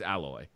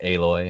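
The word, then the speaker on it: Aloy: was just this is alloy she nailed it well I would I would agree to piggyback what you said briar hands-down it's you know III pronounced it a Loy I know tomato tomahto hey Lloyd to me was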